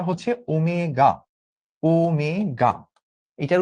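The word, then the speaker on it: ω: এইটার উচ্চারণটা হচ্ছে ওমেগা।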